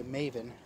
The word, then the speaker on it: Maven: It looks like Raven, but with an M, so I just say Maven.